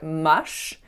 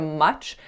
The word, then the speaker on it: much: the choice sound as an affricate I made it as a fricative so basically for this word you have to fully stop your air before releasing it abruptly on that qu but I made the air keep on flowing so I tent I actually said mush instead of much but again I say